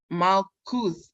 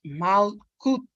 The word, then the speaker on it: Malkuth: Say out loud, Malkuth. Pronounce Malkuth, which means kingdom.